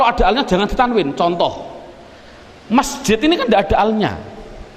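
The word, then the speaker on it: مسجد: Masjid. Mengapa kok dibaca masjid? Mbok dibaca misjid saja.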